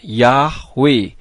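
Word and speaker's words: Yahweh: ye ha W ha dibacanya yahwe huruf ha di bagian belakang tidak kedengaran pada saat dibaca dan perlu saudara ketahui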